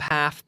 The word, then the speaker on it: half: had only the top half printed out but remember that after the L in that word is silent half half only the top